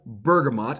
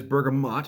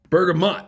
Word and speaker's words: bergamot: drinking Earl Grey's double bergamot and I did look it up it is bergamot and not Bergamo double burger not tea god that's hot bergamot rhymes with hot okay so what I've